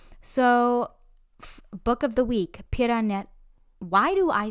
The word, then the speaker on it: Piranesi: So, book of the week, Piranesi. Why do I say everything with an accent? Piranesi, not Piranesi.